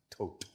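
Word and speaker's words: Thoth: named th all right actually originally pronounced tote tote thank you for that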